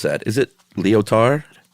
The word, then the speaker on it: Lyotard: How would you pronounce that? Is it Lyotard? Lyotard.